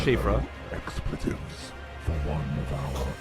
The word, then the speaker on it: Siofra: Every time I look at Siofra, I'm probably just going to say Siofra. I'll try to remember it's Shifra.